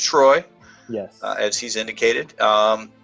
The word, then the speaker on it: Treu: again it's t-r-e-u it's pronounced troy yeah as he's indicated